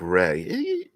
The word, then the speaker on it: RAI: RAI is pronounced like Ray.